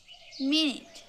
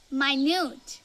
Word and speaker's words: minute: কিন্তু আপনি কি জানেন এর দুটো উচ্চারণ আছে? এর আরেকটা উচ্চারণ হলো মাইনিউট। মাইনিউট এর অর্থ হলো খুবই সূক্ষ্ম বা ছোট।